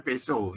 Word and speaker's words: Peugeot: Nah, seperti ini kan Prancis ya, seperti mobil Peugeot loh. Bacanya Peso ya. Jadi T-nya enggak kedengaran.